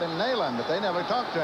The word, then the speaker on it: Neyland: We can get some arguments back and forth about the pronunciation of that name, but I can tell you that the general, the major as he was when he came, he called it Neyland, K-N-E-E.